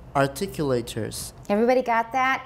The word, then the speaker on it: articulators: Because a lot of people don't know how to say this. They say articulators, or they say really funny things.So articulators, listen to me say it a few times, articulators, just listen a few